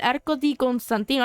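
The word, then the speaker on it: Arco di Costantino: Bueno, se pronuncia como el Arco di Constantino, algo así, porque eso ustedes saben que el idioma es diferente y la pronunciación.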